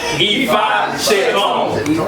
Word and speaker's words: Ifaseyitan: Ifaseyitan.